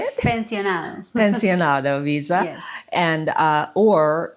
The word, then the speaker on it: pensionado: Pensionado.